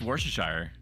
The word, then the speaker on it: Worcestershire: It's Worcestershire.